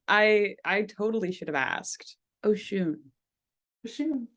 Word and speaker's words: Oshūn: The pronunciation of my name. Yes. It is actually Oshūn.